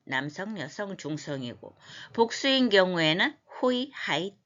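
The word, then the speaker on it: οἱ: 여성, 중성이고 복수인 경우에는 호이, 하이, 따. 왜 이걸 호이라고 읽을까? 잘 안 보여도 입이 이제 연습이 되어서 자동으로 그렇게 나와야 돼. 거친 순표입니다. 호이, 하이, 따.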